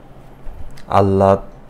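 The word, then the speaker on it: আহ্লাদ: আর এইচ সাত হয় ল হ যোগ ল এটার উচ্চারণ হবে এল এইচ এ এর মত আল্লাদ বা আল্লাদি আল্লাদি টা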